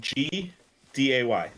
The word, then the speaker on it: g'day: you'll eventually get better imagine G d-a-y say it like that yeah okay good day good day good day well I just say mate at the end of the end of it yeah yeah but you gotta say it like reason reasonably fast g'day mate okay good day mate what's